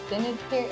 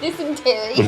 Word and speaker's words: dysentery: Denentary. How do you say that? Dysentery.